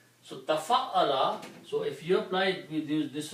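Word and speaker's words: تَفَعَّلَ: Okay, if you pronounce it, becomes tafa'ala. This is a different ba where you make a bigger word by adding a ta in the beginning and putting a shadda on ayn, middle letter. So tafa'ala, so if you apply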